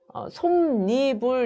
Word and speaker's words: 솜이불: 솜이불의 경우에 얘도 마찬가지입니다. 솜이불 합성어고요. 앞에 말이 미음으로 끝나고 뒷말이 이로 시작했기 때문에 솜니불 이렇게 발음을 해야 맞죠. 솜이불이 아니라 솜니불 이렇게 발음하는 게 맞고요.